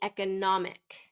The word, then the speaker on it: economic: very commonly mispronounced so it should be e economic economic third syllable stress and I frequently hear